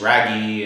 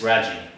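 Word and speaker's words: Raggi: pl princess's author and I called him James raggy apparently it's rajie so anyway uh I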